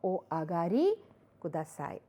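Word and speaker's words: お上がりください: you would say dozo o agari kudasai. And the pronunciation is a little nasal.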